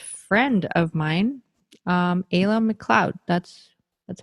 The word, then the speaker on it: McLeod: have a long-lost friend of mine um ayla mccloud that's that's how you pronounce it now hey yeah cloud okay yeah